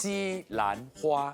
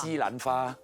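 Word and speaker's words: 西兰花: -You did It's pronounced as " xi lan hua " I see -Not " xi lan fa " So, what about that broccoli you saw?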